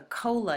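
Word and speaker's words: kola: a nut called the cola nut and this is the cola nut Cola is spelled k o l a and it sounds a lot like our word Cola that we use for drinks the cola nut has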